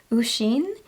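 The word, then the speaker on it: Oisín: my March TBR and a few of you corrected my pronunciation of the author's name so I apologize he is an Irish author and I believe you pronounced his name usen and that's um usin McKenna and I am about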